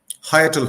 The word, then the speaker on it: hiatal: to see yes what is uh is it pronounced I hate steel hernia hiatal hernia hernia h-i-a-t-a-l um it the the word